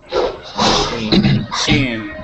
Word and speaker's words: machine: Machine.